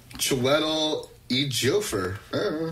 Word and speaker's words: Chiwetel Ejiofor: Yeah, that's chi, as in like chi flat iron. Like chi. Or chai. Chi. Chiwetel. Chiwetel, that's it. And then. Chai tea. The J is silent.